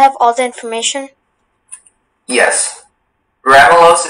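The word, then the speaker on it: ramulose: Ramelos is the only pronunciation.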